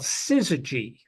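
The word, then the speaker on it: syzygy: But this January 2nd, 1987 storm, one of the big headlines from it was something called sizzagy. Sizzagy. Syz Y gy it's spelled.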